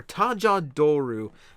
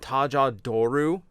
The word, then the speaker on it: Tajador: Rider O's form, or Tajadoru. I always pronounce it Tajadoru, even though that includes the accent. But since they officially Romanized it that way, I will pronounce it that way.